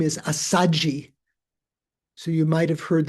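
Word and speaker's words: Assaji: So the Ashva, the ASHV, when you try to transliterate from Sanskrit into Pali, which is a more easy language to pronounce, you don't have conjunct consonants that are different from one another. So SH followed by V doesn't work in Pali, so they just double the S. So it's Asaji and rather than Asvajit in Sanskrit.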